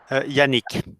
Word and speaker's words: Yannick: ¿Cómo se pronuncia bien tu nombre, Yannick, para no pronunciarlo de mala manera? Yannick, ¿Y tu apellido?